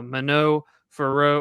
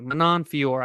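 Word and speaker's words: Manon Fiorot: week we've got uh minnow furrow or manon it's madonna fiore thank you manon fiore i butchered it on the joeys i'm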